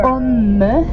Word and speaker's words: homme: And gentlemen, again, you are homme with an H.